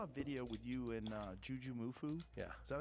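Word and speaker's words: JujiMufu: I saw a video with you and Juju Mufu. Yeah. Is that how you say his name? Yeah, Juji. Juji. Yeah. Juji Mufu? Yeah, Juji Mufu.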